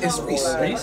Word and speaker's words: Res: Well, you know, but it's Reese.